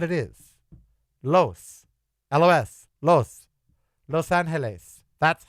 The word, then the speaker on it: Los Angeles: It is Los Angeles. If you don't like that, don't say it. But that's what it is. Los. L-O-S. Los. Los Angeles.